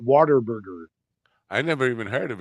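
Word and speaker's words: Whataburger: in Texas and ask them why they're not Water Burger I never even heard of it Water Burger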